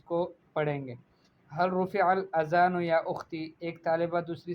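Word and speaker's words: الأذان: آپ نے غلطی کی۔ وصحیح رفع الاذان بالذال لا بالزائی، صحیح ہے، صحیح تلفظ کے ساتھ اگر اس کلمے کو پڑھا جائے تو وہ بنے گا رفع الاذان بالذال، یعنی ذال کے ساتھ، لا بالزائی، زا کے ساتھ نہیں۔ اچھا، ایک طالبہ کہتی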